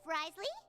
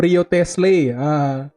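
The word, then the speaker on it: Wriothesley: Cara baca sama penulisannya beda gitu. Kalau orang Indo kan bahasanya itu Rio Tesle. Kan jelas dia. Memang enggak bahasa Jepang, enggak bahasa Inggris.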